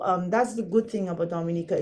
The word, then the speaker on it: Dominica: It is Dominica. We pronounce every letter. It's not Dominica. Some say Dominica, you know, it's Dominica.